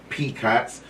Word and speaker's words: PKOTS: We pronounce it as PKOTS, P-K-O-T-S.